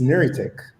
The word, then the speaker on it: Neritec: So it's Neritec, right? Oh, it's Okay. Neritec. And it's really Nicole and Ricardo Tech. So Niri Ah, Okay. Neritec.